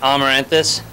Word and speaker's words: Amaranthus: hard time even well we we pronounce it amaranthus but um basically what amaranthus